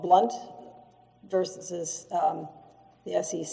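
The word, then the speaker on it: Blount: it in you yes it is blunt is spelled b l o u n t okay and um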